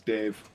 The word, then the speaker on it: Daimh: I have looked up the pronunciation is Dave Dave this is David Beyonce